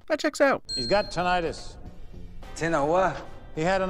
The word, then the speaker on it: tinnitus: the medical field where she's a PA, it's tinnitus.